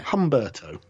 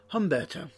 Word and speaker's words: Humberto: Just think of a cross between the delicious, refreshing, sweet humbug Yep. and the easy to pronounce Italian name Roberto. Yeah. Humberto. Humberto.